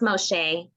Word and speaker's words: Moshe: Is your first name Moshe? It's actually pronounced Moshe.